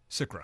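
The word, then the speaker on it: SCRA: All right, one question I do have, if you could touch on, and correct me if I'm saying it wrong, is it SICRA? SICRA.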